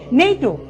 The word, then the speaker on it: NATO: আর এখান থেকে মনে রাখবো, যেমন পড়ছি নেইটো, আমি কিন্তু পড়ছি না NATO, এরকম কিন্তু পড়ছি না, আমি একটি শব্দের মতো পড়ছি নেইটো।